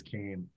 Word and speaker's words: Keem: But the only problem is that beach in Achill is actually pronounced locally as Kane.